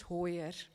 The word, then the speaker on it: Hoyer: Mama, my surname is Hoyer like in foyer but with with a hoyer.